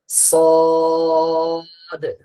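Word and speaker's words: صاد: উচ্চারণ হবে সদ।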